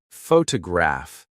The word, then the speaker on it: photograph: For example, photograph noun is stressed on the first syllable, but photograph I see adjective is stressed on the third.